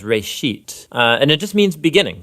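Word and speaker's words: בְּרֵאשִׁית: of it's called Genesis Genesis comes from a Hebrew word it's pronounced for a sheet and it just means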